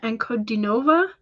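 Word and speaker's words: Ankudinova: It's Diana Ankodinova.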